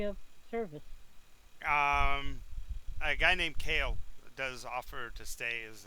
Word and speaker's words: Kael: But it's pronounced Kale.